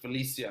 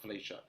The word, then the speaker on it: Felicia: home videos i think your name's actually pronounced felicia not felicia felicia was a this